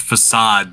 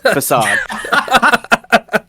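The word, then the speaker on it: façade: result of a car that word is pronounced facad Nate okay facade you know what thank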